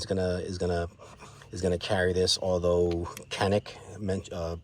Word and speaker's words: Canik: Although Canik, pronounced Kanish, I think in Turkey.